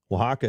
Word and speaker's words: Oaxaca: You started out in how do you pronounce it? Oaxaca? Oaxaca, yeah.